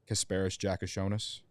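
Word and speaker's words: Kasparas Jakučionis: Kasparis Jakashonis.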